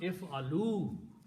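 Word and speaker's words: اعلوا: people to do so, you add a waw there. And whenever you make a waw, you put an alif extra, which is not pronounced. This is called alif firqaya, alif of separation, with a little circle on it. It is not read, not pronounced, just written there. So this will become if'alu.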